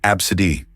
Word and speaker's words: ABCDe: Some parents are getting creative with their children's names, choosing unconventional ones like ABCDe pronounced absid.